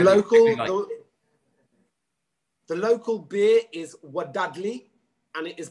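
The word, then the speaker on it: Wadadli: found at the local the local beer is wadadly and it is pronounced dad lee okay very good it's very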